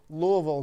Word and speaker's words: Louisville: that matchup they're impressive Louisville Louisville how do you say it Louisville Louisville Louisville is what we're gonna go with but this is gonna